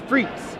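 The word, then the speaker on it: Frites: See, in French, that word, as far as I understand it, is pronounced Freets. Yes, because it's, that is my understanding as well. Right. But people call it Frights because it's French rights.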